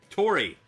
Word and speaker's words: Tori: Tori. Like Suntory. I was like, oh, her name's Tori.